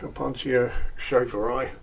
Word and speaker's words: Opuntia schaferi: So, and this one, the Opuntia schaferi, that's how you pronounce it.